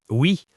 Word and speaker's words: au: Le A se combine avec le le pour former O. Répéter O. C'est plus facile à prononcer. Donc si le lieu est masculin comme restaurant, on dit je vais au restaurant.